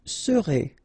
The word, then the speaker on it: serez: O-N, on, seront, vous serez, Z together at the end, et serez, alright?